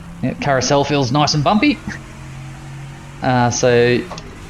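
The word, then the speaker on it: Karussell: dotting a here where where it's pronounced carousel feels nice and bumpy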